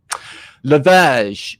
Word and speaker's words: lavage: Lavage, says Denise. Go say it like that. Lavage. Okay, so I told you I spoke loads of languages fluently. That's French, by the way.